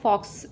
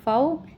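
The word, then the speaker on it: faux: एफ ए यू एक्स दिखने में ऐसा लग रहा है जैसे इसको फॉक्स प्रोनाउंस किया जाता है बट फॉक्स pronunciation is wrong इसको जो है वो फऊ बुलाया जाता है।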